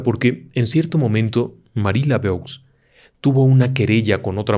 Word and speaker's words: Laveau: Su nombre, Marie Laveau. Se escribe Laveau, se pronuncia Laveau.